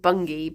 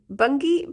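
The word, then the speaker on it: Bungay: there's a place called Bungi but it's spelled like Fifi Fifi. It's like it's a whole other world. Um it's a place called Bungi but it's spelled like bungeay and it's next to a place called D.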